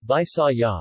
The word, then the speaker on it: Bisaya: The Visayans, Visayan, Mga Bisaya, local pronunciation, Bisaya, is an umbrella term for the Philippine ethnolinguistic